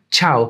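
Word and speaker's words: ciao: see the spelling though it is spelled with a c but pronounced with a CH H chow in Italian both C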